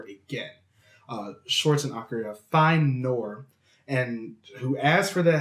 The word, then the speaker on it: Noir: Schwartz and Akira find Noir, and who asks for their help in freeing Greta from... Marcus, I have to stop you. Yep. It's pronounced noir. Noir? Noir. That way. You keep saying nor.